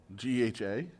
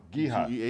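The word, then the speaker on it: GEHA: GHA? Geehaw? Geehaw. But you don't pronounce it. You just letter it.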